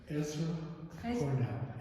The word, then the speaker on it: Ezra Cornell: Ezra Cornell.